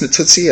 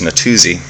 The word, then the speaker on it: Natuzzi: Did you know it's pronounced Natuzzi? I had no idea. Just like the rule, I kind of assumed it was Natuzzi, which I was willing to pronounce and not feel weird about.